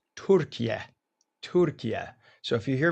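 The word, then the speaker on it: Türkiye: The president just landed in Anchora, Turkey. Or it's it's no longer, you know, it's no longer Turkey. It's properly pronounced Turka.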